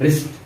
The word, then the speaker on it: wrist: इसको हम W इसका जो है वो साइलेंट वर्ड है, साइलेंट लेटर है। Next रिस्ट, WRIST रिस्ट watch.